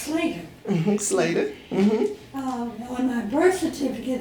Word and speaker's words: Schlater: I would pronounce Slater.